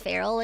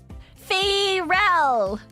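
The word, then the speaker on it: Pharrell: It looks like it should be pronounced feral. Fel. So it's Frell but just with a longer a.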